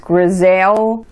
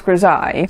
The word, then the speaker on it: grisaille: And if you see this word written, you might think it's pronounced grisaille, but no, it's pronounced grisaille.